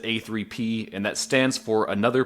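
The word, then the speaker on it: APPP: is the production company you'll see it online abbreviated just a-p-p-p but you pronounce it a3p and that stands for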